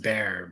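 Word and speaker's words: Bexar: but um yeah well b x a r is pronounced bear bear county in San Antonio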